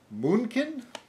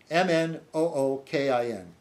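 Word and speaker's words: Mnookin: And it's written by Seth Moonkin, Moonkin. I suppose the N is silent.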